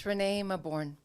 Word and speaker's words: Renée Mauborgne: And I'm talking about Renée Mauborgne, and did I pronounce that correctly? I always get that Thanks, one. Mike. Yeah, it's Renée Mauborgne.